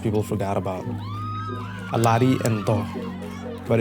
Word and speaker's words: Doh: In other places, the Marmas play Doh, pronounced Do in other regions.